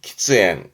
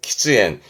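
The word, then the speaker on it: 喫煙: 그래서 발음이 키즈엔 키즈엔 끼견이라함은 그렇죠.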